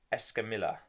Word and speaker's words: Escamilla: Alvin Hines versus Taylor Escamilla.